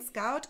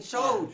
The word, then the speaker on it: Schoot: Hände in Scout gibt kein Braut. Vom Brot. Hände in Schoß liegen gibt kein Brot. In Schoot. In Schoot. Habe ich es falsch ausgesprochen?